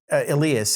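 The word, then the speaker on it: Elías: do I know like Tony Elias has aleus I should say now that I know how to pronounce it properly he his handlebars they're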